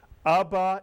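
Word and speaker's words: אבא: The third Hebrew word I taught you, 2 vowels, 2 syllables. Abba is correct.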